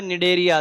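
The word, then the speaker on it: Cnidaria: ये देखो एन एन का मतलब है निडरिया। सी साइलेंट है।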